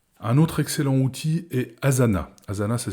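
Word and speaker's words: Asana: main facilement l'outil un autre excellent outil est Azana Azana ça s'écrit a S a n a Azana est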